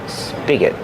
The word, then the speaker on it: spigot: Tap and spigot. Spigot. Use a short sound like this is.